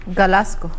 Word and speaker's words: Glasgow: Did I pronounce it rightly? Glasgow.